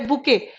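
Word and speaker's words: bouquet: ठीक है, फ्लावर्स के लिए बंच बोल देते हो स्पोकन में, बट इसका टेक्निकली एक वर्ड है बुके। बुके में टी साइलेंट है।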